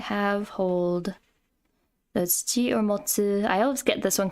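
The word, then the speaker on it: 持つ: And then ji or motsu. This is another one that has the temple radical. They have, hold. That's ji or motsu.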